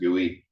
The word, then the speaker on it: GUI: so a graphical user interface GUI or often pronounced guey um that's where a human system the brain